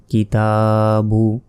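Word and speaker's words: الْكِتَابُ: পেশ কিছু নেই তাই এই আলিফের উচ্চারণ আমরা করিনি ওটা বাদ প্রশ্ন আসতে পারে তাহলে এটি দিয়েছে কেন এটি আসলে এই অর্থের কারণে এই যে শব্দ এই শব্দের অর্থের জন্য এই আলিফটা দিয়েছে কিন্তু এটা উচ্চারণ হবে না তারপর কাবের কি তা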